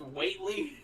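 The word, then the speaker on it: Whateley: that in um the lovecraftian book that's actually pronounced weightly yeah but at this point I'm cut you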